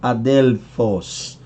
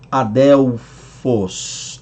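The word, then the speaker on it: ἀδελφός: do grego adelfoz tá a quem pronuncie adeleforce Adele Force ou outros dizem adelfos adelfos Adele Foz adelfos Ok Lembrando que é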